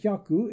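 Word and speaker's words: 百: 80 Oh Haku hundred the Oh before this I syllable seems contrary to rule but yaku is pronounced almost like a died syllable Oh Yahoo eight hundred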